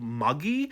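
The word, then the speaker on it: maegi: Maggie is the Westerosi's attempt at pronouncing the term I'm going to say it's called Maggy.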